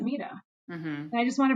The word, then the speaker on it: Mita: you're actually acting like you don't pronounce it maida you pronounce it mita and i just want